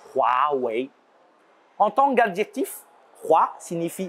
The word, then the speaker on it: Huawei: Le H se prononce comme un R français. H-U-A se prononce comme roi, le passé simple du verbe rouer. Vous voyez, il roi. W-E-I se prononce comme ouais, le oui familier. Donc, ce n'est pas Huawei, Huawei, c'est Huawei.